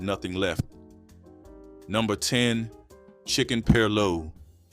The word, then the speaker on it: perloo: Number 10, chicken perloo. Perloo is the Gullah pronunciation of pilau, and pilau is a word that traveled out of West Africa with the rice itself.